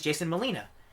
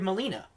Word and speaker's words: Molina: says his name is Jason Molina and I was like why did I ever think it wasn't pronounced Molina? It's spelled just like Alfred Molina.